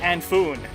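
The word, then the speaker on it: Annwfn: It's actually a Welsh pronunciation, and it's pronounced Anfoon, or something like that.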